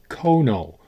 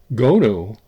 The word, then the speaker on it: 고누: Stuart Coolin, in his 1895 book on Korean board games, invariably used Kono with a hyphen. And this became the standard English American pronunciation of the word. But the word lost its hyphen at some point, but it's still with us as Kono. But apparently, Gonu is actually a closer pronunciation of Korean.